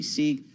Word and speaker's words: Sieg: Am I pronouncing that correctly? Sieg is correct, yeah.